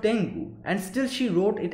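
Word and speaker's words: 天狗: well thought that she thought that it is pronounced as tango that's why she wrote tengo underneath that was not the case she knew it was called tengu and still she wrote it as tango that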